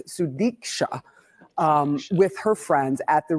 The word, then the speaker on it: Sudiksha: college student in the Dominican Republic that still show Sudiksha Konanki, sorry I said her name wrong, it's Sudiksha, with her friends at the Rio Republic Hotel in Punta Cana on Thursday morning.